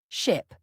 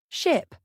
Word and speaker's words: ship: Ship versus sheep. Many learners mix up short and long vowels. Ship has a short I sound, ship, while sheep has a long I sound, sip.